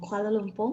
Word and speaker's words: Kuala Lumpur: i saying this quite correctly did i say kuala lumpur am i pronouncing that right yes correct um from kuala lumpur malaysia right well tell us a little bit